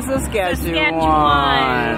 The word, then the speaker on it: Saskatchewan: Regina, Saskatchewan. Don't forget it. Spell it.